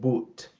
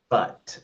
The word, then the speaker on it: but: Next you your pronunciation of this word pero you say but boot but the word but.